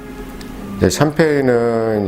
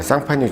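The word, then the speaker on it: Champagne: 싫다고 하면서 이름을 탈까 샴페인은 이제 미국 c 이제 영어발음 이구요 원래 이름은 이제 쌍 판입니다 예상 판 이유는 내 프랑스의 한 지역 이름이에요 상파뉴 지역 이에요 그래서 프랑스에서 예 자구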